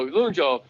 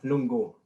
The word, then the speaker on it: lungo: such a superior solution oh it's lungo luna hi ghost how do you pronounce that loon joe it's it's lungo lungo lungo lungo that's it i couldn't i didn't